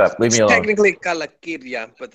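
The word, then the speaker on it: Calacirya: The word I'm not going to try to pronounce on the internet. As cool as that is. Shut up. Leave me alone. Technically Kalakirya, but it's okay.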